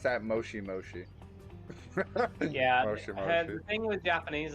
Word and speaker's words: moshi moshi: them say that on anime see how you pronounce that moshi moshi yeah the thing with japanese is that they